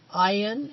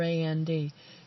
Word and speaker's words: Ayn: is a discussion of ayan a YN r and r a nd you may hear her name mispronounced as and Rand are on round so beware of that